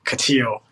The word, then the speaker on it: Katiyo: in the north Feast correct as if I pronounce it wrong is it ctio that's yeah ctio oh that's twice I've done that you know